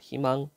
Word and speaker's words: 희망: 음절이 아니라 초성 첫소리 첫소리가 자음이 왔어 이럴 때는 어떻게 발음하라고 이로 발음해 희망 청소년은 우리의 희망 또는